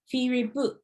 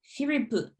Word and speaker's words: Firipu: would pronounce your name, Firipu. Firipu. Yeah, Firipu. And because you see PP, it's like a sharper sound. Firipu. Oh, Firipu.